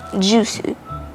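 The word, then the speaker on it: ジュース: right what else donut donut in japanglish is pronounced as donatsu and juice is jusu it's pretty easy to catch actually the basic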